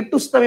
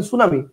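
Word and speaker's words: tsunami: ইউ এন এম আই কিন্তু আপনি কি টুসনামি বলেন বলেন না তো আপনি তো উচ্চারণ করেন সুনামি দ্যাটস ইট আমারও এটার উচ্চারণ সুনামি হবে ঐরকম মনে করেন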